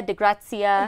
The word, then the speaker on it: de Grazia: it can be said a bunch of different ways. But it's de Gracia, de Grazia. De Grazia. So is that Italian or Spanish? It's Italian.